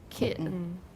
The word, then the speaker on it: kitten: kitten for those kitten for those people who do not have a glottal stop instead of the but the majority of speakers of english pronounce this word with a glottal stop kitten right i didn't hear